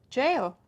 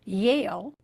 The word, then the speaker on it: Yale: to either Harvard or jail? In this example, the student mispronounced the first sound in the word Yale, the name of a university. And that mistake changed the word to jail, a word that means prison.